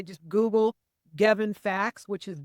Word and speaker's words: Gevin: Gavin my name is Gavin like G pronouncing it like heaven with a G but it's spelled like K with a G so that people get